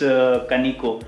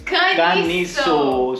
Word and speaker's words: Caniço: So that's how they pronounce. Sorry, it's Kaniko. Oh, sorry, it's Caniso. So we are going to explore the small little town of Caniso today.